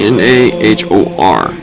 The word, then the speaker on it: Nahor: This name is spelled N A H O R.